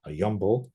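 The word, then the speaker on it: 염불: The first of these is mindfulness of Buddha, which in Korean Buddhism is called Yeonbul, which is the Korean way of pronouncing these two characters.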